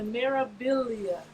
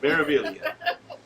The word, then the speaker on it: Meraviglia: The Meraviglia. The G is silent. So many times. They're wasting a perfectly good G in there, but okay, we got it. Meraviglia.